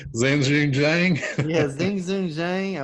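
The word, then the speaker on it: Xinjun Zhang: Zanjun Zhang.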